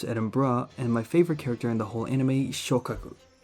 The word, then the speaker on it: Edinburgh: My favorite examples would be Sheffield, Edinburgh, pronounced Edinburgh, and my favorite character in the whole anime, Shokaku.